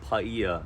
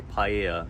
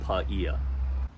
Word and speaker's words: Paia: well and it's pronounced paella I've heard people say paella it's not like that Seafood dish it's paella before we get to